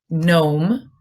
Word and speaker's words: gnome: We have sign, gnome, and gnaw. Okay, and what about MB? Which letter is silent in MB?